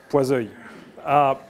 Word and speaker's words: Poiseuille: And don't tell me this is not pronounced the right way. I'm French, I know this is Poiseuille.